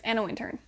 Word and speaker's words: Anna Wintour: working for Anna Wintour is it Anna Wintour Anna winter I should look this up before I say her name like 10 more times alright is Anna winter so this is a